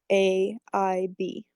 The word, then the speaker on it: Ghraib: Ghraib.